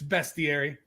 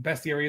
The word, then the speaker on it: bestiary: a 128 pages and that is the right way to say it folks